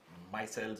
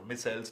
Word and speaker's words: micelles: low concentrations which are called micelles or missiles depending on how you pronounce it right soaks and the